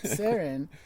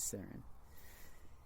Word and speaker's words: Saron: the person person is sarin like Sharon without the H got it and the